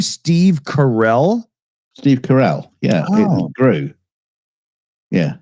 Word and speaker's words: Carell: Steve Carell. Yeah, Oh. it grew. Yeah. Okay. Interesting. Why? I thought it was Carol. I've never really looked it up. And I always figured Felix was just pronouncing it wrong.